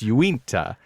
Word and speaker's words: Uinta: It's Uinta.